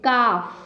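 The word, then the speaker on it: calf: cow and baby called cough l is silent cough this is dog and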